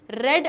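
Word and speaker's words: read: अब ये जो रेड है ये रीड नहीं है, रीड का पास्ट टेंस की भी स्पेलिंग रीड ही होती है, लेकिन उसको प्रोनाउंस रेड करते हैं, और डिड भी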